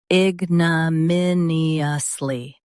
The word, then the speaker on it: ignominiously: ig nuh min ee uhs lee ignominiously Stress min and keep lee light.